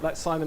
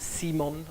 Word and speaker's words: Simon: And that's Simon as in science, not someone once pronounced it Simon. I'm like, no, not like scissors, science.